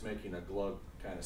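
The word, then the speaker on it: glögg: It's called glug. It's spelled G-L-O-G-G, and the O is kind of like a U.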